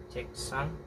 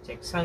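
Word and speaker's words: 책상: So pag binigkas po siya, checksang eh, hindi po ganun, checksang eh, dire-diretso po, mabilis po kasi siya magsalita, checksang eh, ita. Ita. Ita. So ganyan po ang pagbigkas.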